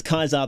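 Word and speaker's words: Caesar: And you're like you're like with Easy Pete, it's like why do you pronounce Kaisar the right way?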